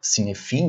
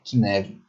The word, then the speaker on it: Cynefin: de TI que é o Kevin se lê sefin né mas a pronúncia corr é que Neve Ok então pensamos sobre